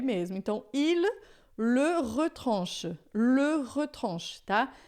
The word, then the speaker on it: il: Il, o L final em francês, a gente sempre vai falar som de L mesmo, não é? I, né? Em português, a gente quando tem um L final a gente acaba falando pastel, né? Carnaval. A gente faz o som de L como U.